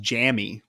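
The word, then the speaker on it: Jammie: I actually think it's pronounced Jammy, by the way.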